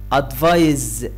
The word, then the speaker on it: advise: advise الاس هنا بتنطق زي الزين كده أو زي الزال. تمام. advise, advise بتنطق زي الزد.